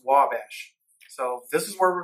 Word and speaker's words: Ouabache: if I said it right but it's actually pronounced Wabash so this is where we're going to be